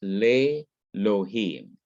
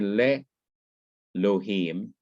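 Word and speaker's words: לאלהים: And then what happens is the aleph in Elohim quiesces or becomes quiet and loses its consonantal character. That is, it's not pronounced. It becomes silent.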